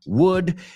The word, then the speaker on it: would: So just some, you've got must, can, might, could, may, should, would. Cuidado que no pronuncias will, could, should. Right? That's a very common pronunciation mistake. La L es muda. O sea, quítala.